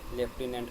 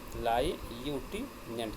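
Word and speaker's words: lieutenant: लेफ्टिनेंट पढ़ाए थे इसको ना, यहाँ पे हम लाई यूटी नेंट करके पढ़ेंगे इसको हम लोग।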